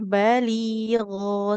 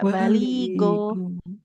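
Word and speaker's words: بليغا: fi anfusihim quam balig waahum fi anfusihim baligo tidak go tapi g dia agak mengalir soalnya baligho tidak baligo baligo gho gho gho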